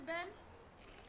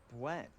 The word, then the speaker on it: Bueno: For Ben? Ben? Crispy wafer filled with creamy hazelnut, dipped in drizzled and delicious chocolate. Ben! Actually, it's pronounced Buen.